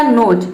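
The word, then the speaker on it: nose: किसी भी वर्ड के लास्ट में ई आता है तो ई साइलेंट रहता है, यहाँ पे ई जो है वह साइलेंट है, ये मैंने पहले भी बताया है।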